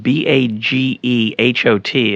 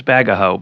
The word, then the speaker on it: Bagehot: Yeah, Bagehot is spelled Bagehot, and Correct. when I was in graduate school, I thought his name was Bagaho, but it's not. It's Bagehot.